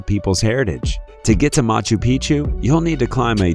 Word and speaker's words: Machu Picchu: Four, Machu Picchu, Peru. When a place rhymes with picture, you can almost bet it will always give breathtaking images every time.